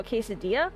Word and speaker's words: quesadilla: And they're like, oh, so quesadilla? I'm like, okay, that's a bit better, but it's not the actual pronunciation.